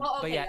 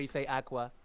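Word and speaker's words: Aqours: is being part of Aqua the defense yeah it's pronounced Aqua but um awkward but yeah it's it's you write it awkward but you say Aqua uh but you know like I I actually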